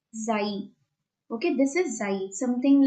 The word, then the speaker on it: xi: Alpha, beta, delta, epsilon, gamma, and this last letter is pronounced as xi.